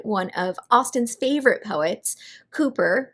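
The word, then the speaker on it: Cowper: of austin's favorite poets cooper which is spelled like calper c-o-w-p-e-r and if you need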